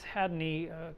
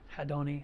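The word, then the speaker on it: Haddoni: I have a real nice Hadney collection. Hadoni, I said it wrong.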